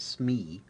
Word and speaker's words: SME: matter experts or SMEs this is usually pronounced Smee in the field a Smee may be